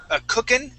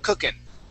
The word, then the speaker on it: cooking: Okay, and notice when I say cooking, I do not pronounce the G at the end, and it's more of an N sound instead of cooking. It's cooking.